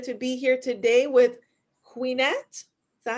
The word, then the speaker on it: Quenette: I'm your host, Dharma, and I'm so excited to be here today with Queenette. Is that how you say it? Yes. Queenette.